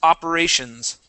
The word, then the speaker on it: operations: Okay, so make sure to pronounce that S, operations.